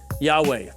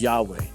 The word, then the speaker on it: Yahweh: would transliterate to yhwh it's almost like a breath yahweh those are probably most likely the vowels that should be provided most likely pronounce it as yahweh jews in the modern